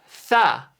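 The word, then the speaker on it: ث: 3니까 싸. 그래서 이건 그냥 싸가 아니라 영어의 3 할 때처럼 th 발음을 놓으시면 돼요.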